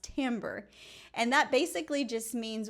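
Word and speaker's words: timbre: but I wanted to mention a word called tambber. It's spelled like this, but it's pronounced tambber.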